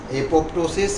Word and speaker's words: apoptosis: It is apoptosis, and also it is told apoptosis, where second P is spelled silent. So both way it is said, but I prefer to say apoptosis.